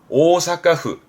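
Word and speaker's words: 大阪府: 발음은 오사카후.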